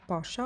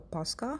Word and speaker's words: Paskha: Moving on to our sweet treat, that is a vegan cheesecake Pascha or Paskha, however you wanna pronounce it.